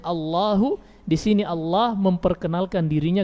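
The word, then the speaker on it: الله: Menjadi Allahu, bukan lafzul jalalah jadinya, tapi au lahu. Apakah miliknya? Iya, ataukah miliknya, begitu artinya. Padahal harusnya Allahu, di sini Allah memperkenalkan dirinya kepada hamba-hambanya.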